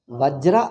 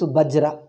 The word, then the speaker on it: Vajra: Vajra Angabali. Even North Indians, they pronounce Vajra becomes Bajra.